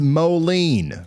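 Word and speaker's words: Moline: It's pronounced Molen.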